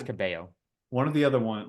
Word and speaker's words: Cabello: One of the other one, like if the L's aren't pronounced in her last name, then it's pronounced in her first name. Yeah, it's pronounced in the first name, not pronounced in the last name.